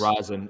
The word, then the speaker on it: rosin: I swear it's rosin. Everyone Everyone's saying resin. It I think it's rosin.